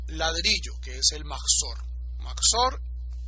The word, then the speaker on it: Mahzor: Mahzor, y lo escribo porque hay gente que lo está pronunciando mal, Mahzor, con Het, Mahzor. El Mahzor viene de Joser,